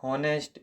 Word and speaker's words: honest: 8, the silent letter in the word honest is A options. H is the right answer.